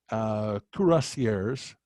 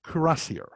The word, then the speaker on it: cuirassier: Now, this is a artist rendering of Saxon cuirassiers. Well, in English we say cuirassier, but in French it's cuirassier. It is a reference to the breastplate that lancers and mounted heavy cavalry would wear.